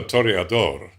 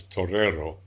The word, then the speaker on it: torero: the song of the torador which actually is not the right word it never has been the right word for a bull fighter is Torero if you go to